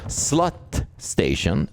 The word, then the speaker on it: slutstation: to call it, or slut station. That means end station in Swedish, but we don't pronounce it like that. We say slutstation, but it's literally spelled slut station.